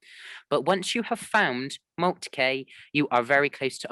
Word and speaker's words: Moltke: Just that's Moltke.